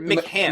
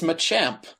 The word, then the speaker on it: Machamp: Well, no, because you pronounced it wrong. You guys think? You pronounced it McCamp. Machamp. It's Machamp. Well, he pronounced it that way on purpose.